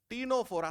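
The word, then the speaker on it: Ctenophora: टीनोफोरा, सी silent है, टीनोफोरा।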